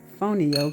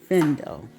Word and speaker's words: fonio: Today we're going to be making some saucy shrimp and fonio grits. That is the way the Americans pronounce it. But in Mandinka, it's pronounced findo.